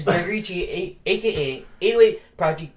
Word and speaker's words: Kyi: Chi. I know it's spelled awkward. I know it's KYI, but it's pronounced Chi.